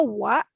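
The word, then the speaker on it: は: Itu dibacanya wa di sini adalah sebagai partikel. Partikel yang kalau di bahasa Indonesia diartikan sebagai adalah.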